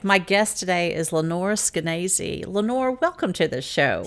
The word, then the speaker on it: Skenazy: It rhymes with crazy.